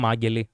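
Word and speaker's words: αγέλη: Hey, valiant attempt to actually name them Ageli, as in Greek. So they got in half right with the ag pronunciation. Yeah, but not the rest.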